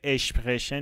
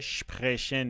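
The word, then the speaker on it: sprechen: دیگه اول کار اشتباهه این صدای اشپخشن نمیده صدای شپخشن میده پس ش رو می‌کشید و به عنوان حرف اول استفادهش می‌کنید. پس حواستون به این باشه که اشتباه تلفظ نکنید.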